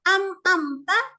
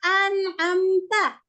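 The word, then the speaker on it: أنعمت: Bahkan ada anakku yang mengatakan bahwasanya yang mana benar? Amta ataukah an'amta? An'amta, Bu. Nun. An'amta.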